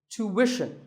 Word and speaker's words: tuition: But after that, it's not ishin, it's wishin. Tuition. You have to put the w sound there.